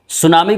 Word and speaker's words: tsunami: सुनामी को English में हम लोग TSUNAMI, जिसमें टी साइलेंट रहता है, टी को नहीं बोला जाता है।